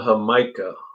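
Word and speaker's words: jícama: mica right here that is called hamika it's like jamaica it's spelled like jamaica but it has another eye in there and then wickershire wrote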